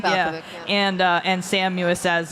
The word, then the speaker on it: Balkovich: Balkovich, yeah.